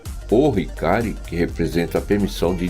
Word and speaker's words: Ohikari: É colocado o artigo O na frente do Hikari. Então, quando você se dirige ao objeto que é a Medalha da Luz Divina, você pronuncia o Hikari.